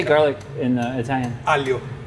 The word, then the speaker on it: aglio: It actually is A-G-L-I-O, But the and O the G is silent? the G silent, aglio, not the O.